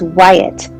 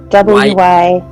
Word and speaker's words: Wyatt: I pronounced it wrong all the time. Her name is Wyatt. Wyatt. Yeah. It's Wyatt.